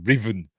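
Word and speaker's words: Ruthven: Miller as um as Riven Captain Riven but it's spelled Ruth ven r u t h v n but it's pronounced Riven um and as you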